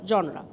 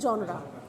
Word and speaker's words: genre: আচ্ছা, comedy of manners and heroic tragedy become major dramatic জনরা। GENRES, এটার উচ্চ pronunciation হলো জনরা। আমরা জেনার বা কিছু থাকতে পারে, কনফিউশন থাকতে পারে, আমি তাও বলে দিলাম।